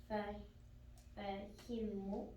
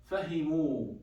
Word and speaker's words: فهموا: If you guys remember, I told you about a rule. Whenever we have mad alif, mad waw, mad ya, Yeah. what's the haraka should be before the mad waw? Dhamma. Exactly. So fa, he, and mim has dhamma, then we add the waw.